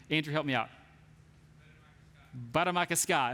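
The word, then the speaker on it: Bde Maka Ska: I can't pronounce it correctly. Andrew, help me out. Baramakaska.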